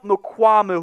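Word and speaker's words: Mukuamu: Israel how do you say the last name Mamu Mamu so a lot of Cowboys fans wondering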